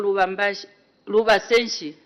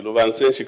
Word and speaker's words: Lubansenshi: The last member, the Honorable Member for Lubasenshi. Thank you, Madam Speaker. The correct pronunciation is the Lubansenshi constituency, and greetings from the people of Lubansenshi constituency.